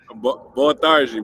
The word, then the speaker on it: Boa tarde: So it sounds like a J, right? E. Boa tarde. But it's spelled D-E.